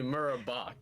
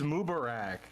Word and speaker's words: Mubarak: Actually, Murabak. Am I? It's Mubarak, dude. Yeah.